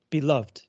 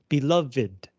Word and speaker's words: beloved: This is one of a very small number of English words where the pronunciation of the past participle and of the adjective are different. 过去分词跟形容词的发音不一样。So as past participle, 受宠爱的过去分词, you would say beloved.